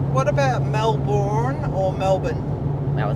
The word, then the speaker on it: Melbourne: What about Melbourne or Melbourne? Well, it's Melbourne. It's Melbourne in Australia, but yeah, the Americans say Melbourne. Yeah. They say the Borne identity. We don't say the Burn identity.